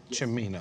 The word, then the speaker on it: Cimino: Cimino.